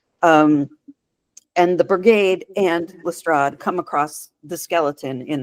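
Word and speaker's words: Lestrade: And and that brings me to um are we're going to pronounce it Lstrad because everybody outside of pronounces it LRA.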